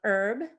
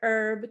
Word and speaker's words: herb: You notice in the pronunciation, the H is in parentheses. That's actually because the word herb comes from the French herbe, which also means grass. But it so happens that the United States is the only English-speaking country that pronounces the word herb with a silent H. In England, they pronounce it herb, and in Australia.